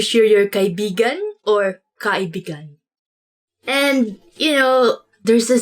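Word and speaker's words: kaibigan: this word because like you have to say it like this kai began because means friend but when you twist it a bit uh and say it like this that's kind of it's not really a natural way of saying it but it actually means lover so like when you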